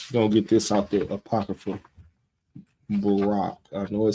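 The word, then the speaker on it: Baruch: c h it's in the right but it's pronounced Barack Barack chapter 3 verse 8 now this is the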